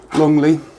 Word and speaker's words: Longleat: were in Frome, and Longleat, L-E-A-T, I think it's spelt, but I think it's pronounced Longleat.